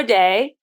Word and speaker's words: Dai: both ways but uh I usually pronounce it my Welsh form and uh it's weird